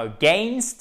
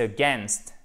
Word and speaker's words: against: To hold something against, accent tonique ici. Et c'est pas against, c'est against. Là, pour le coup, c'est juste un peu comme un E accent grave, ok?